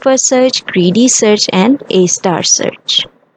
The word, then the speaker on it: A*: इसे हम ए star pronounce करते हैं.